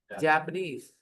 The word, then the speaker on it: Japanese: is Japan Ah, but when you add make the adjective you say Japanese the stress changes we talk about those